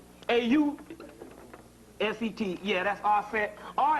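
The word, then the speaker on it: Auset: Yeah, that's Aset.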